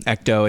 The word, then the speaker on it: ECDO: Ethical skeptic calls it an ecto theory, and I'm not going to be able to pronounce it's ECDO. It's ecto.